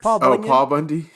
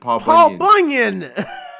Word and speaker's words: Paul Bunyan: Paul Bundy. You said it wrong too. Paul Bunyan.